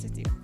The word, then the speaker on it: Stephen: Steven en realidad es sí se pronuncia Steven. Steven le decían de chiquito, no se decen, pero para nosotros es Stepen siempre, pero es Steven King, eh, así que nada,